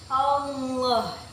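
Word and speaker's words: الله: Hukum tajwidnya yaitu tafhim. Karena lam jalalah yang berharokat fathah, cara membacanya itu ditebalkan seperti ini. Allah.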